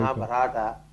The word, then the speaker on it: Mahabharata: De modo que a la hora de pronunciar hay una tremenda precisión requerida. I frequently hear Con frecuencia oigo, Mahabharata.